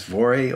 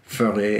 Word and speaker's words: Voere: So we would say that as VOERE over here, but the correct pronunciation is actually VOERE, and you sort of roll the R.